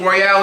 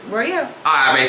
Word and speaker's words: Royale: idea of who Royale is, Royale or Royal? Royale.